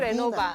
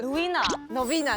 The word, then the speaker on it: Novena: 不是 Renova，但是 Novena，对不起。